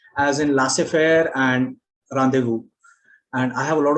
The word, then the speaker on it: rendezvous: Okay, and Z again is silent in very few words, and again these words are borrowed from French, as in laissez-faire and rendezvous.